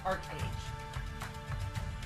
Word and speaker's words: ArcheAge: And the game itself is pronounced ArcheAge, which is a little bit different from the way they pronounce it in Korea.